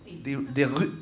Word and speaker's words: Debussy: Debussy.